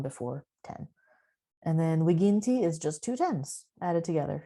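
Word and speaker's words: viginti: the number 20 so 20 is wigienti you probably notice i'm using classical latin pronunciation not ecclesiastical you might also hear this word as vijinti but i'm going to say wiginti so 18 is dual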